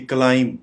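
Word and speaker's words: climb: Plummer अब ये देखिए क्लाइम चढ़ाई पर चढ़ना सीढ़ियों पर चढ़ना इसको सिर्फ यहां पे इसका बी आपको दिखाई नहीं दे रहा यानी बी साइलेंट है इसको हम प्रोनाउंस करेंगे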